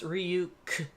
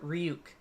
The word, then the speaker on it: Ryuk: If you could pronounce Ryu, then you could pronounce Ryuk. Then form it into a whole word, Ryuk.